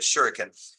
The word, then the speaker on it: shuriken: shuriken I think that's how you say it shuriken and it's the technique or the the the